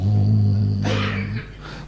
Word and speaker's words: ओम: उच्चारण में दो पहलू हैं। एक में आवाज एकदम निकलती है, चरम सीमा तक जाती है और फिर धीमे धीमे साइलेंस में विलीन हो जाती है। ये दोनों कंपोनेंट ओम के होते हैं।